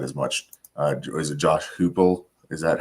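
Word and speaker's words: Heupel: Is it Josh Hoople?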